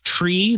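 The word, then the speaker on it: trie: don't make any sense my biggest pet peeve is tree that's spelled t-r-i-e why would you do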